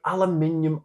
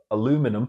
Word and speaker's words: aluminium: the comments with an aluminium Al or aluminum if you are of the American persuasion and pronouncing it wrong